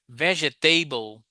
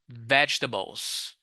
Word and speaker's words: vegetable: If you say vegetable, I am so sorry. Okay. It's not. These are vegetables. Vegetables. Okay. But teacher table. Yeah. Veget table. No. Okay. No. Never say vegetable again.